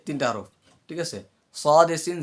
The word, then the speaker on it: ص: সদেসিন যা 13 নম্বর মাখরাজ। সদেসিন যা, এটা হলো জিব্বার মুখ থেকে। হ্যাঁ, সদ কিভাবে উচ্চারণ করবো? সদ কিসের হরফ? সদ হচ্ছে ইকফার হরফ, এবং সদ মোটা হরফ।